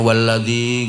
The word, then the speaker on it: والذي: alladzi khalaqa fasawwa walladzi Itu nggak boleh terlalu panjang itu. Bukan mat wajib muttasil. Bacanya walladzi nggak boleh terlalu panjang.